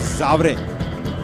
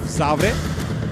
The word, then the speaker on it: Zavare: But see, in the spelling of the English, it is written as Zavare, but it is Zavre. That is the proper Marathi pronunciation of Zavre.